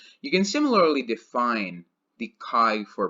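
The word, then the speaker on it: χ: called Chi cult Chi it's written Zhi but it's pronounced as Chi and Chi of a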